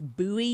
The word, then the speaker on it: Bowie: David Crockett and then the other guy whose name looks like David Bowie but it's Buoie. You pronounce it buoy.